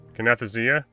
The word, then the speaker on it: Kinesthesia: Chrono, I wish I could pronounce that perk. I struggle with it. Kinesthesia. Kinesthesia?